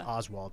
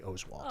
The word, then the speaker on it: Oswalt: OS W T and he was Oswalt on every Sports show and every highlight uh his mom called the ESPN Newsroom and told the assignment desk that everybody's pronouncing it wrong and it's actually Oswalt and from then on